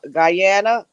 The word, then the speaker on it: Guyana: My father is from Guyana. That's how you say it, Guyana.